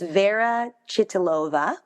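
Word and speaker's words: Vera Chytilová: And I actually I wrote down the last name of the director to make sure I pronounced it, but it's Vera Chytilova.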